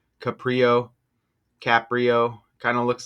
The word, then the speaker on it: Caprio: That's how you spell it right there. Huh? Let's go. Let's check this out. Caprio.